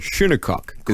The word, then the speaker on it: Shinnecock: it up and I even heard an actual pronounce it shunokuk yes yes and because there is the Shinnecock